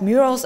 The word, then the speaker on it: murals: Wow, this village has murals everywhere.